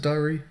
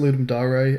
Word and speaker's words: Ludum Dare: I think I've heard people pronounce it Dari. I pronounce it Ludum Dare, and I think I have looked it up before. And I think it is Ludum Dare.